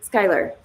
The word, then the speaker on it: Skylar: Skylar. It's, it makes sense when you put it there, and then I look at the way it's spelled. I see how it's Skylar.